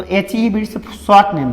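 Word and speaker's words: Bates: बेट्स। H.E. बेट्स बीट्स भी पढ़ सकते हैं मगर बेट्स पढ़िए उच्चारण, ठीक है?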